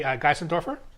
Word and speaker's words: Geissendoerfer: I'm here with Uli Geissendoerfer. And am I pronouncing your last name correctly?